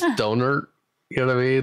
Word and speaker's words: Dohnert: Like, he's probably going to hate me, but his last name kind of sounds like donut, but it's Dohnert.